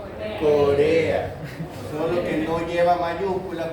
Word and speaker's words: corea: Singleton y me faltan Una sílaba, dos sílabas, tres sílabas. Palabra trisílaba. No lleva tilde. No lleva tilde. Si esta fuera la acentuada, sería una palabra esdrújula. Todas las esdrújulas llevan tilde. Por lo tanto, no es esdrújula. Si fuera una palabra aguda, termina en A, llevaría tilde. No lleva tilde, por lo tanto tampoco es aguda. Es una palabra grave. Se dice Corea.